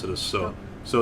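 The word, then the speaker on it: そ: Pronounce it as So.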